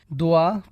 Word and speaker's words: dua: Dua pronounced dua literally means a request, invocation or supplication.